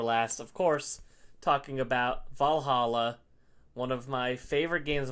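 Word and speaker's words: VA-11 HALL-A: so much to me so Valhalla is spelled va-11 Hall d a and that is because that is the location of the bar Valhalla um you are Jill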